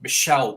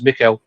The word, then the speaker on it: Michel: with um Michael Kimman who's properly pronounced Michelle Kimman. Your ex-writer Nate. Yeah. I I always thought I've been getting it wrong my whole life. I thought it was Mikuel.